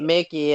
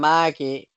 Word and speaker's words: Mikey: Your name is I'm not m I'm not Mickey. I'm Mikey. It's Mikey. There's no C in my name.